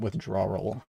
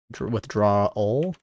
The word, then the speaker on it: withdrawal: I don't know why I keep pronouncing it withdraw roll but whatever it's not how you pronounce it actually let's get let's